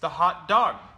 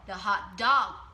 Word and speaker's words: hot dog: Vậy có một điều rất đặc biệt là thầy ấy nhấn trọng âm vào âm 2 nếu những từ này là từ đơn lẻ.